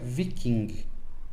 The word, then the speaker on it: viking: Então, o G é bem pronunciado, diferente do inglês, onde o G some. Em nórdico antigo você pronuncia viking, tá?